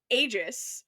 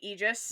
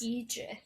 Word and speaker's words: Aegis: It's apparently egis. Eegis. Sorry that I was pronouncing all the letters that are there. Why is the A there if you're not going to say it?